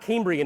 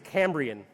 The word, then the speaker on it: Cambrian: It was his birthday, but he was going through a practice run and he said, "Daresh, it's not Cambrian, it's Cambrian."